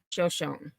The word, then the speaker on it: Shoshone: in Shoshone Idaho and I looked up the pronunciation because there is Indian tribe Native American tribe Shoshone and the city or the town in Idaho is just shown so I wanted to make sure that I had pronunciation correct so it is Shoshone so just before 7